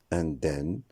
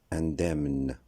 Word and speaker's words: indemne: Ce mot ne se prononcera pas indemne comme dans le nom automne ou indemne. La bonne prononciation correcte, c'est indemne. C'est-à-dire que le M et le N vont se prononcer.